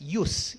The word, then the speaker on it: jus: of the word judge jus pronounced as use use means the right